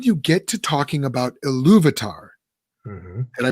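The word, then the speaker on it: Ilúvatar: but then when you get to talking about eluvitar can i pronounce that correct you did yep louvitar who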